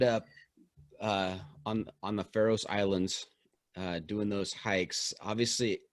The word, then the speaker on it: Faroe Islands: pharaoh island and then pharaoh's islands but yeah i say pharaohs islands and not not for any particular reason i'm just phonetically saying it okay all right very